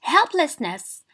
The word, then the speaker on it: helplessness: Helplessness. 3 syllables. So 1, 2, 3, and help is stressed.